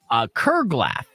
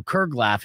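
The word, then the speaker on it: curglaff: The next word that's a long-lost word that should be brought back in 2024, Kerglaff. Kerglaff. It's spelled C-U-R-G-L-A-F-F.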